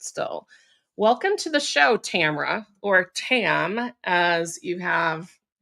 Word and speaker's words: Tamara: And it's Tamara, it's Tamara, it's Tamara with 3 syllables, it's Tamara with 2 syllables.